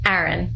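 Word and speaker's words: Ryne: How do you pronounce it? Aaron. Aaron. It's a strong New York a which I don't expect people to actually know.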